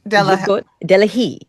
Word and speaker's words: Jacquotte Delahaye: So is Jacquotte, Jacquotte Jacquotte Delahaye.